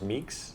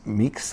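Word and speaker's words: Mekies: I think it's Laurent Meeks. Meeks. I think it's Meeks. So he was the team principal for the Baby Bulls.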